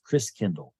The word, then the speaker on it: Christkindl: And the German pronunciation of Christ child is Christkindl. Like kindergarten, kindercare, kind means child, Christ means Christ. And so over the centuries, Chris Kindle got pronounced Chris Kringle. Interesting. So Chris Kringle is really Chris Kindle, which means Christ child.